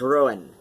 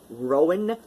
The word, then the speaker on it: Ruadhán: gelic I assure you it is pronounced ruin depending on your uh depending on the the uh the regional dialect of Gaelic one is speaking Rowan is also acceptable I will I will